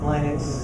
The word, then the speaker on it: Linux: Linux. Somebody around here has got to have incredible heart to remember how it's pronounced.